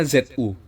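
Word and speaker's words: づ: diberi dua peti atas Zu ini dzu Ini penulisan keyboard ya Tapi bacanya Zu Zu itu berasal dari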